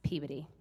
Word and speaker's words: Peabody: Wherever you go, no matter where you go, let people know it's pronounced Peabody.